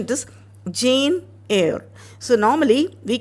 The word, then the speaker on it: Jane Eyre: So I hear children telling Jenny, Eyre, like that and all. So that is not the right pronunciation. It is Jane Eyre.